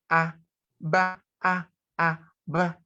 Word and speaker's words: aba: So when we have A and B and A, it's pronounced as A, ba, ba.